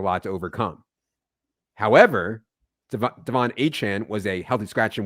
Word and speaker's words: Achane: Yeah, that's certainly the question of the week, and credit to you for nailing the Achane pronunciation. We learned that this week. That is indeed the correct pronunciation of his name.